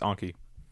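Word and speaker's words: Anki: this one so oh it's uh it's anky anky a n Ki drive eny drive now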